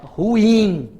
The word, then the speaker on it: ruim: Não, a pronúncia, de acordo com a norma culta, que é a norminha que determina, é ruim, ruim. A vogal tônica é o I. Ruim, duas emissões, não é monossílaba, não.